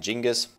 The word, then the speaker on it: Genghis: Nein, da steht Genghis bei mir, das ist ein G, kein T. Ja, da spricht man auch Genghis aus, weil es wie gesagt von Genghis Khan kommt.